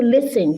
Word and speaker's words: listen: You want to listen, don't you? Please type listen in the chat. I want to see that you're going with me. Type listen, not listening, right? Listen. The T is silent, right?